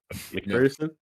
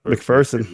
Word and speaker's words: McPherson: He pronounced it fear or Ferson? Fear. Oh, nice.